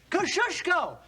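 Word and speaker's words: Kosciuszko: Say it and spell it. Kosushko.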